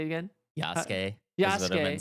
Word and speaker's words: Yasuke: Yasuke.